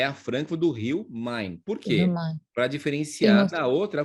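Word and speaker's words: Main: muita cidade chama mamãe ma&na por isso que a gente fala assim Francisco Não mãe mãe que é mãe não é Man porque alemão não pronuncia assim né ma&na gente pronuncia mãe então por isso que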